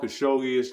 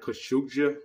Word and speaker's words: Khashoggi: Jamal Khashoggi. I know it's not pronounced like that. It's like Khashoggi.